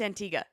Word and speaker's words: Antigua: you there but that's Antigua that's how it's pronounced and that's how the island people pronounce it I feel like they could have just taken out the U H well I mean